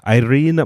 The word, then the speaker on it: Irene: In Spanish, I just say Irene. And yeah, Irene? Irene. That's how you say it in Spanish.